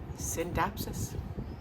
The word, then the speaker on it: Scindapsus: So I looked it up, and the C is silent. So Scindapsus.